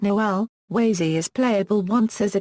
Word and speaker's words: Łazy: His name is pronounced as Wazy and not Lazy.